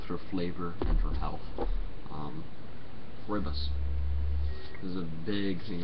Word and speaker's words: Rooibos: And yes, it is pronounced Rooibos. Rooibos. It's not Rooibos. It's not Rooibos. It's Rooibos.